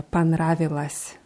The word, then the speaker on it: понравилось: Ja, dieses О wird aber eher wie A ausgesprochen. Ja, понравилось.